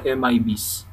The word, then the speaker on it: MIB: The Management Information Base or the MIBs. A device's management information is maintained by the management agent in the Managed Device Management Information Base or MIB. Rhymes with read.